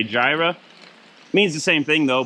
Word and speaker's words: Jireh: Jireh spelled with a Y, which I think somewhere along the lines in the English language, we switched it to a J and now we say Jireh.